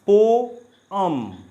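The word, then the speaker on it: poem: की है तो इट्स पोयम पोयम इस अवार्ड को पढ़ते हैं पोयम नॉट पध इस वक्त पड़ते हैं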